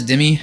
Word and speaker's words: Demi: So this one is Demi, I believe it's going to be pronounced Demi. Kind of like demigod, but here it is, Demi.